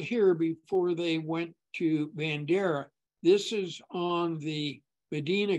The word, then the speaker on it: Bandera: 120 miles down to Medina Bandera pass they would have called it banderi in the old days once again I can't